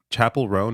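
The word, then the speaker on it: Chappell Roan: to say her name is it Chapel rone is that what that is yeah okay like like a like a church chapel okay so Chapel room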